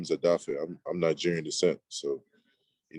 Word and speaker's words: Odafe: is my middle name my first name is adafi i'm nigerian descent so you know people were having trouble you know pronouncing dafe adafi so you know i went